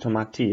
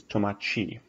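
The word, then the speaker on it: tomate: like how it's spelled so if you have a word like this tamaki tomato it's not too mighty it's to my Chi so the TE sound TI is actually a chi Chi tomiichi to my team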